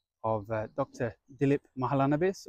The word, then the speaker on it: Mahalanabis: of uh Dr dilip mahalanabis or in the proper Bengali pronunciation mahish